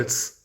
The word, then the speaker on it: ahí: somewhere nearby I now since the H is silent in Spanish the sound is about the same I probably say it